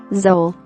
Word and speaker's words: Zoele: Thanks to Huber's quick thinking, the 25-year-old mother got out alive and was able to carry her baby, Zoele, rhymes with Noel, Mickey Skinner, to term, giving birth to her 4th child just over 1 month later.